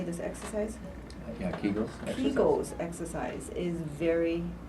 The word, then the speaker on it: Kegels: Yeah, Kegels.